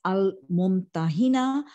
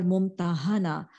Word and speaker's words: الممتحنة: This can be pronounced as Al-Mumtahina or Mumtahana. The first pronunciation will mean, which means to examine, the surah which examines. And the second would mean that the woman who is examined. The period of revolution is